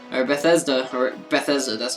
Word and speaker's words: Bethesda: I love that content creator Beth Bethetta or Bethesda or Bethesda. that's how you pronounce it.